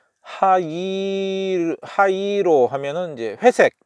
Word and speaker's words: 灰色: 그런음 어 뜻이고 예 하이로 예이가 두 번이 왔으니까 이거 이제 장음으로 어 발음을 해야죠 하이로 하이로 어 원래는 하이이로 온 거 같은데 하이로 예 하이로 하이로